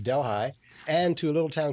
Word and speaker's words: Delhi: And we decided to go around the world in Ontario because we went to London, to Paris, to Delhi, pronounced Delhi, and to a little town called Damascus.